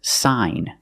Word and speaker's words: sign: signature so we see when you have GN at the end of the word the g is silent too the pronunciation is sign and you have the long I sound like hi and like sign sign